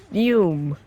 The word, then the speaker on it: FÜM: Fume.